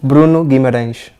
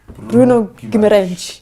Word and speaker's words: Bruno Guimarães: Bruno Guimarães. Bruno Guimarães.